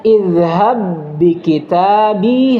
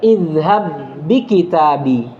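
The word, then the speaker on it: اذهب بكتابي: Maka cara bacanya idhab bi kitabi hadza. Idhab bi kitabi. Ya, jangan dikolkol yang pertama. Idhab bi kitabi. La, khata. Kenapa? Karena dia sudah diidgham. Paham gini?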